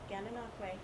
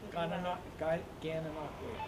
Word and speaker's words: Gananoque: Oh, you're going to have to forgive me if I don't pronounce the name right. Gananoque? Close enough, yeah. Gananoque. Gananoque.